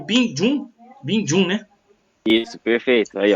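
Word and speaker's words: Becamex Bình Dương: É Becamex Bindon? É isso? Binjun. Bindon. Eu falava Becamex Bindon.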